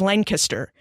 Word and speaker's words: Lancaster: So when I arrived on campus, they taught me a lot about Pennsylvania culture, like the proper pronunciation of Lancaster is Lancaster, that there are differences between hogies and heroes and between cheese steaks and steak and cheese sandwiches.